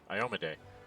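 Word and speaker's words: Iomedae: I can't pronounce her name right. Iomede.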